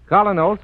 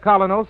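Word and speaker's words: Kolynos: Colinos is a high polishing toothpaste.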